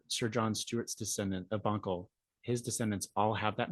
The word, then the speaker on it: Bunkle: He had two sons, James Stewart and then John Stewart of Bunkle.